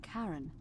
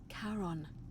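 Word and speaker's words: Charon: is a little off the name you heard wasn't Karen it was c h a r o n as in karon the Fairman of the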